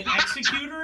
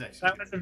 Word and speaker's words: Executor: Everybody would say executor, and it drove me crazy. Anyway, it is executor. That was your it's not executor.